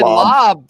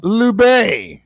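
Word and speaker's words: Laube: That could be a sleeper is a Dylan Lobb for the Raiders, bro. I've been starting to hear a little. It's pronounced Lube.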